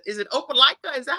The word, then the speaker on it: Opelika: And I saw on your bio that it said, is it Opelika? Is that how you pronounce it?